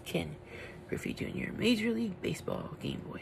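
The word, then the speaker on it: Ken Griffey Jr.: Griffey Jr I used to I used to pronounce it King greasy Junior but it's Ken Griffey Jr Major League Baseball game boy Edition Yep this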